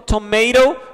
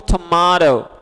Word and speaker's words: tomato: Mesmo jeito, o tomate, você pode dizer tanto tomato como tomato. Ok?